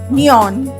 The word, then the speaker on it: Neoin: I would like to call Jyotirmaya Mohanty, founder and CEO, Neo in PTE Limited. I hope I pronounced it right. It's Neoin. Neon. Okay. I is silent then.